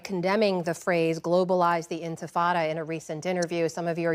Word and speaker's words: intifada: He says, globalize the intifada, right? Intifada.